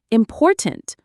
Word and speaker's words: important: Say important with the stress on the second syllable.